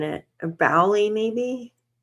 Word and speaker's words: Boley: A bowy maybe. Let me make sure. I hate mispronouncing something. Jonathan bully discussion.